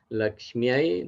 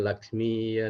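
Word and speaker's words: Lakshmyai: Dewiai namah Saraswati, Saraswatiai, namah, Laksmi, Laksmiai, namah. Jadi bukan Laksmi ya namah, Saraswati ya, namah, Dewi ya namah, bukan seperti itu.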